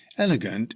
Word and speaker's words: elegant: Elegant is an adjective. It's pronounced elegant with emphasis on the first syllable.